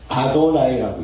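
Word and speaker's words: אדני: 읽을까 봐 두려워 가지고 이거를 야회라고 우리처럼 읽지를 못합니다. 절대 못 읽어요. 그래서 뭐라고 하느냐?이 이 부분이 나오면 아도나이라고 읽습니다.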